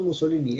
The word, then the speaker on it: Mussolini: ¿Esto cómo se pronuncia? Porque él es Benito Mussolini.